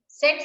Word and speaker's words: Tsetse: Tsetse, सिर्फ ये T silent होता है.